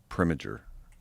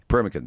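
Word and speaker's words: Proenneke: There's a guy I'm going to get his name wrong. It's like Preminger, something like that. Uh and he in the 60s Dick Premakin. Premakin, that's it.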